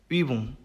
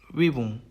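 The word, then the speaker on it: Übung: 우음라우트는 발음이 으가 됩니다. 으. 그래서 입 모양은 똑같이 오를 유지를 한 채 발음을 위 한국어로 위 발음을 하시면은 그나마 또 유사한 발음이 될 것 같습니다. 단어로 예시를 살펴보면은 위붕, 위붕, Gemüse, Gemüse 이렇게 됩니다.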